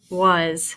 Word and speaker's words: was: Was. Very good. So really, my A is going to sound like a short U sound, and my S is going to sound like a Z. So, was.